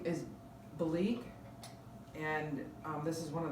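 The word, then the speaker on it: Belleek: thousands of dollars another antique item name is bleak and this is one of the marks it's spelled b-e-l-l-e-e-k and bleak is a very fine delicate china now this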